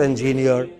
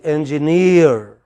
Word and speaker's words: engineer: it next next no is not engineer it is engineer imagine you are pronouncing